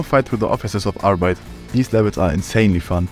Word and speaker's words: Arbeit: Arbeit, or as it's pronounced in German, Arbeit, being the German word for work.